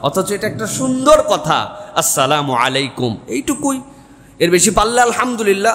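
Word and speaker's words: السلام عليكم: হাসি মুখে সবার সাথে সালাম দাও, আর সালামের বিশুদ্ধ উচ্চারণটাও শিখে নাও। আসসালামু আলাইকুম, সুন্দর না শুনতে? বিরাট বিরাট লোকজন দেখবেন এরকম করে সালাম দেয়, সালাম আলাইকুম, সালাম আলাইকুম।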